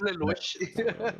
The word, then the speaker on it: Lelouch: I think it's, yeah, it's Lelouch. Lelouch. How's it pronounced? No, you had it right the first time.